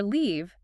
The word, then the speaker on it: leave: But for leave, L-E-A-V-E, you physically have to smile, right? You do. Your lips pull back, your cheek muscles tighten. Leave. If you aren't feeling muscle tension in your face, you are pronouncing it wrong.